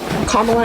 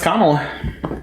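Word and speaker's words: Kamala: to educate me um sorry KLA is that how you pronounce her name her name is kamla okay perfect um I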